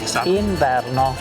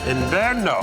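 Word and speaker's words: inverno: Ino. Ino.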